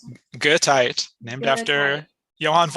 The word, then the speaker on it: Goethite: Is that how Yeah, you pronounce it? Goethite, named Goethite.